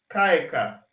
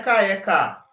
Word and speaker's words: caeca: Caeca. Não é caeca. É caeca.